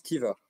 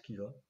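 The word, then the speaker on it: Caoimhe: Je te laisse faire Il me semble que ça se prononce Kiva.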